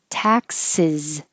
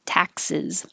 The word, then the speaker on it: taxes: Taxes. And the S sounds like a Z at the end. Taxes.